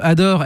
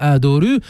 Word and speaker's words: Adore: le nom du groupe Adore. Est-ce que on le prononce à la manière japonaise Adoru ou est-ce que on le prononce comme l'album des Smashine Pumpkins, Ador ?